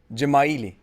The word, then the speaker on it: Dzemaili: it is pronounced. Jamaili. Gemaili.